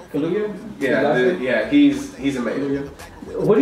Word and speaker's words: Kaluuya: How do you say Kaluuya? Kaluuya?